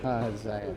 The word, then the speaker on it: Ahaziah: Yeah, Ahaziah? Is that how you say it? Ahaziah.